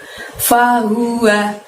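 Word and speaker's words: فَهُوَ: Di ayat yang ke-7 ada lafadz fahuwa, pendek semua, haknya keluarkan dari tenggorokan bagian bawah ya, lebih tebel ya. Fahuwa, bukan fahu tapi fahuwa.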